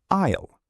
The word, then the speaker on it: aisle: It is pronounced isle. The letter s is silent.